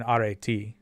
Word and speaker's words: Arete: That is what it is because the E's, they have 2 different E letters in Greek and they flipped the pronunciations between ancient Greek and modern Greek.